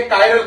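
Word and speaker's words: chiral: हिंदी में इसे किरल बोलते हैं, लेकिन वैसे इसका प्रोनाउंसिएशन सीबीएसई बोर्ड वाला बच्चा काइरल करेगा, यूपी बोर्ड में इसे लोग काइरल ना बोलकर किरल बोलते हैं।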